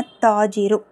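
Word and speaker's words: التاجر: நான் இங்க என்ன போட்டுருக்கேன்னா அத்தாஜிரு அத்தாஜிரு அத்தாஜிருன்னு போட்டுருந்தீங்கன்னா கவனிங்க தா வந்து ஷம்சியாவுடைய எழுத்து அப்ப லாம் உச்சரிக்கப்படக்கூடாது.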